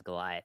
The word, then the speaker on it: Golioth: You know that our name is Goliath spelled wrong, right? We put IoT in the middle. Sometimes folks don't know how to pronounce that as Goliath.